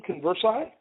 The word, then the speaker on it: Konversai: company's called is that converse is how we pronounce that that company name converse I well it's a made-up name so I call